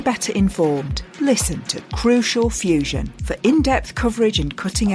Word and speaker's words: FEWSION: their community be better informed listen to crucial Fusion for in-depth coverage and Cutting Edge findings on